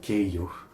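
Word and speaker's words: 京葉: The compound word Keio, which refers to the Tokyo Chiba region, is formed from the second character in Tokyo and the second character in Chiba, which can also be pronounced like Keiyo.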